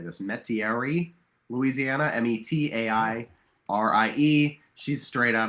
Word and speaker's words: Metairie: met I never know how to say this Metairie Louisiana m-e-t-a-i-r-i-e she's straight out of an Anne